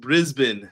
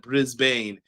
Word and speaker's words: Brisbane: It's pronounced Brisbane, not Brisbane.